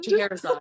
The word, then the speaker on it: Scheherazade: you're gonna have to tell me how to pronounce it, Scheherazade. Scheherazade.